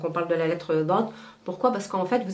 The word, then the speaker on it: ض: Why? Because in fact, you are blocking the air from your throat.